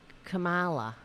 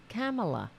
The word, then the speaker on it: Kamala: don't side with uh Kamala if that's how do you pronounce her name camela right Kamala Kamala that's how you pronounce it now it's coming